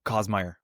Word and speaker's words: Kasemeier: Oh, Kasemeier.